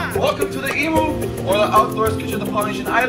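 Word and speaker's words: imu: after me and say emu one more time that is spelt i am you not e m you like how it sounds one more time for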